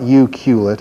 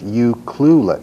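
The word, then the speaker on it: Ucluelet: MLA pronounces it wrong it's not you qulet it's you clueless it's hard to say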